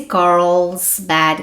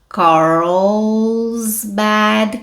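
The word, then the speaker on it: Carlsbad: vejam a pronúncia aqui Carl Coral tem que fazer o r e o l Coral Bad caverns Tá certo vamos de novo Car Bad caverns que nem quando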